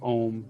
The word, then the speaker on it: Om: So it's spelled AUM and basically pronounced that way. Om, like a Om resistor symbol.